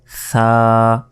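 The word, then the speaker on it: ثاء: তা এরপর সা এই অক্ষরটি পড়ার সময় অবশ্যই জিহবা বের করে উচ্চারণ করতে হবে। জিহবা বের করে যদি উচ্চারণ না করেন তাহলে কিন্তু এই অক্ষরে উচ্চারণ হবে না। এটা মনে রাখবেন। সা জিহবা বের করে জিহবার আগা সামনের উপরের দুই দাঁতের আগার সঙ্গে লাগিয়ে এই সা অক্ষরটি উচ্চারিত হয়।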